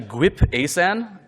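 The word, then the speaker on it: GWP-ASan: not checked it out before uh check out gwp asan which I recently found it is actually properly pronounced uh very Stewie from Family Guy style it's actually GP asan um but it's a lightweight memory sanitizer and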